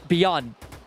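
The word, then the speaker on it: BION: Actually, it's pronounced B-I-O-N is Beyond. Now I love him even more.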